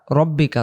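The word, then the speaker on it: رَبِّكَ: বা রাব্বুকা বলবো না এখানে হবে রব্বিকা অনেকে ভুল বসত যেলাম তারকাইফলা রব্বুকা ওইটা এখানে চলে আসে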